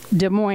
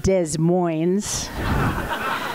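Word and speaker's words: Des Moines: her the one time she mispronounced de Mo Iowa and said Des Mo I'll never forget I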